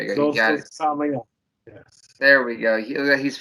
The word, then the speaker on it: Samael: Samael. Right? That's good enough for me. Yeah, there you go. You got it. Samael.